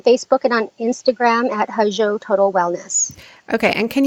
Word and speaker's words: Hozho: They can connect with us on Facebook and on Instagram at Hajo Total Wellness. Okay. And can you spell it? Because I know it's doesn't sound the way it's spelled. Sure. Hajo is spelled Hozho.